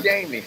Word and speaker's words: Jammie: You pronounce it Jamie. Don't go Jamie. Not you, but you know everybody see it and want to say, "Is it Jamie? Is it Jamie?" No, it's Jamie.